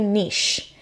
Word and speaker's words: niche: gonna define for you niche which some people say niche but it's spelt niche and I'm Canadian and we say niche so denoting or relating